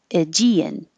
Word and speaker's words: Aegean: So I know this isn't the original pronunciation, but Americans are more likely to say Aegean, Aegean.